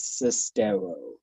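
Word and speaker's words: Sestero: the movie is To Go his name is sistero like almost the rhymes with stereo nobody heard of Greg cestero anybody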